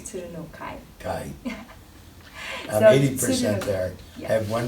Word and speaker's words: Tsurunokai: Tsurunokai. Tsurunokai. Kai. So 80% there. Yeah. I have one syllable to work on.